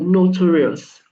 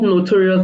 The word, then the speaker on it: notarius: So the word notary in the Latin word is called notarius. Not not not notorious like notorious.